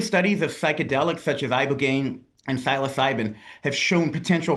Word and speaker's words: ibogaine: Specifically, they were touting this one drug, Ibogaine, I believe is how you say it.